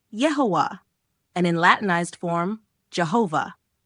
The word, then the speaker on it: Jehovah: And in Latinized form, Jehovah. The J comes from German where it is pronounced like a Y.